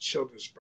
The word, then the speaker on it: Childersburg: I don't exactly know the population, but it's pronounced Childersburg.